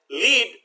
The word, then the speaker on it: lead: ago next lead let lead when it rhymes with the bed refers to a type of metal remember le ad also